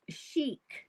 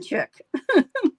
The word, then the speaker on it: chic: Sharon says that it is pronounced chic, not chick.